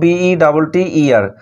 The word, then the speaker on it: better: তো এক্ষেত্রে মনে রাখবে সাধারণত আমেরিকান ইংলিশের ক্ষেত্রে টি এর সাউন্ড আমরা ডয়ের মতো পাই। কখন পাই? যখন টি এর আগে পরে ভাওয়েল থাকবে তখন আমরা টি এর উচ্চারণ ডর মতো পাই। যেমন দেখো BETTER, এখানে লক্ষ্য করো টি এর আগে পরে ভাওয়েল রয়েছে। তারপর যেমন LATER, এখানে দেখো